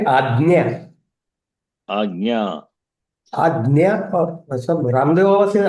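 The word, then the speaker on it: आज्ञा: We say ajna. Agnya. Ajna or some Ramdev Baba says ajna. Ajna. Jakara. Jakara plus Nyakara, but Jakara, Yakara. but together, like we say, Jnanam, Ajna. Ajna, you cannot say, Ajna.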